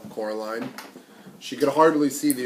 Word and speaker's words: Coraline: They kept saying Coraline, not Caroline at all."